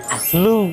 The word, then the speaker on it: Louvre: Ano po ba yung tamang pronunciation? LV Museum. Louv Museum or in French Muse LV.